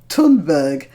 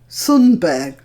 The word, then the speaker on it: Thunberg: I called her Greta Thunberg, and it turns out that the name should be pronounced more like Greta Thunberg.